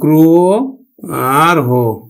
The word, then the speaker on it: গ্রহ: গ্রহ, আদ্য রফলাযুক্ত অ, আমরা উচ্চারণ করব কিন্তু ওকার দিয়ে, উচ্চারণ করব গ্রো আর হো।